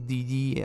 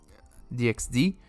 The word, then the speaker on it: DxD: I don't know if the X is meant to be pronounced. I've seen people say High School DD, High School DxD. I choose to say DxD.